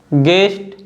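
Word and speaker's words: guest: Guitar, गाइड, गेस्ट, गिल्ट, leak और टंग।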